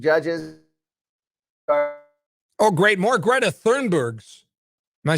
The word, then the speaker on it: Thunberg: More Greta Thunbergs.